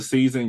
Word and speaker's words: SZN: Well, for the season, you can definitely find it on Tubi. You can find it on Prime Video, Plex TV, Apple TV. Season is spelled SZN.